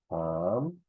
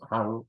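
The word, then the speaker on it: qam: No voy a pronunciar ñuja, ñuja no es, ñoja, ham, no es han, no, ham, pai, ñojanchik, no es ñojanchik, no, ñojanchik, no, ñojanchik, ñojanchik, no, ñojaiku, ñojaiku, no, hankuna, hankuna, y haikuna, ¿no?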